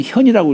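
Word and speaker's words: 見: 그까의 봉인이 청현 여기 현자는 이게 볼자인데 아랫 사람이 윗사람을 볼 적에는 현이라고 읽어요.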